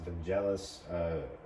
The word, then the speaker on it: Vangelis: I think it's Vangelis. That's how you say it. Is how you spell it.